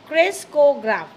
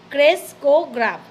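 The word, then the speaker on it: ক্রেস্কোগ্রাফ: কয়ে উকার কো গয়রাফালা আকার ফক গ্রাফ কে ক্রেসকোগ্রাফ, উচ্চারণ আমি কী বললাম, ক্রেসকোগ্রাফ।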